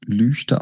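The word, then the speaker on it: Lügde: es ist äh die der Ort heißt lüchte der wird lüchte geschrieben und lüchte ausgesprochen es ist sehr wichtig dass wenn man da ist auch wirklich lüchte sagt und das ist meine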